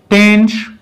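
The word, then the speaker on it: tanh: जो tangent hyperbolic x है, tangent hyperbolic x, ये टेंश प्रोनाउंस किया जाता है।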